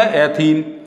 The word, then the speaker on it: एथीन: अब देखो इसका संधि विच्छेद भी कर लो तो एथ और प्लस इन, तो एथीन, इनको मिला देंगे दोनों को तो क्या प्रोनाउंसिएशन होगा, क्या उच्चारण होगा? एथीन।